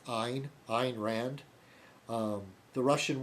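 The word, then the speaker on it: Ayn: looks like aim a y n but it's pronounced Ein Ein Rand um the Russian woman that came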